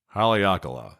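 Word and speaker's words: Haleakalā: get it right let's see here it is Haleakala there you have it that's how you say that so this was Haleakala National Park it costs thirty dollars to get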